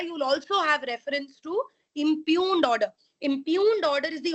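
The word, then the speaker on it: impugned: just note it down impune order i m p u g g is silent NE e d impune order yes I'm repeating impune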